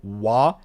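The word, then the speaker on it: は: The particle wah is written like ha.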